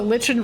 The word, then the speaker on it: lichen: This is the Lichen versus Lycan argument all over again. It turns out they're both correct. Oh boy. In different parts of the world. I pronounced it Lichen.